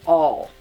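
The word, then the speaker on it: awl: next I have a tool called an all a WL is how it's spelled it's like a pointy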